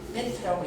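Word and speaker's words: בית: 그래서 두 번째 글자가 베트라고 해요. 베트 이거 보세요. 베트. 배트맨이 아니고 베트 이 글자를 이렇게 써요.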